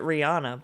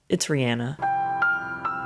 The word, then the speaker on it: Rihanna: Everyone says it Rihanna, but it's Rihanna.